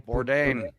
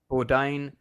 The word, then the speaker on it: Bourdain: Uh, yeah, you pronounce the surname Bourdain. Bourdain.